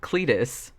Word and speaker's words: Cletus: name we learn is Cletus which rhymes with fetus so you know where